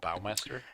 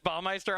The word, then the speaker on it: Bowmaster: your name is pronounced bowmaster. Yes, that's true. I honestly do stumble over it because I'm so used to saying orcish bowmeister on my stream, but I've truly ruined myself.